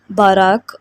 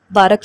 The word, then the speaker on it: Barack: और बारक ओबामा के नाम के बारे में मैं बता दूं कि इसको हिब्रू में बाराक और अरेबिक में बारक प्रोनाउंस किया जाता है।